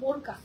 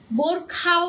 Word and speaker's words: বোরকা: এই রিয়া, বড় খাতা না, বোরকা ওকার বসনারও ক আকার কা, বোরকা, ঠিক আছে? বোরখাও না, বোরকা।